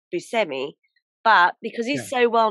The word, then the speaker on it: Buscemi: actually steve buscemi because apparently on his father's side they're from sicily so it's actually pronounced busemi but because he's so well known for being buschemi he just lets everyone